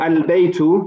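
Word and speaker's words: البيت: So for example, al-baytu, you're going to pronounce the lam and the ba, because the ba is a moon letter. So you pronounce the lam.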